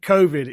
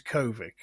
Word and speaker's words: COVID: Like COVID is Kovic.